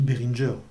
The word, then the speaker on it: Behringer: neutron de chez behringer on dit behringer c'est sont des anglais se sont pas des allemands donc le ge se prononcent jeu comme l'informaticien font